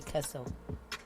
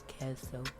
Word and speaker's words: queso: I say it like a redneck. I gotta say it less hard like that. Like queso.